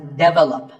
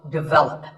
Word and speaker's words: develop: This is pronounced wrongly by many learners of English as develop. But the first syllable is actually de, and the stress is on the second syllable. So, develop.